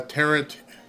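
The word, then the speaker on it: Tarrant: deplorable Dan Barry uh terrant terrant is I guess I said it right must have said tarant before but tant is is what the word is for Tech how Texans talk about it thank you very much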